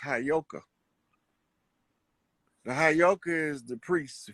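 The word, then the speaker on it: heyoka: I know you that that word is properly pronounced hyoka the hyoka is the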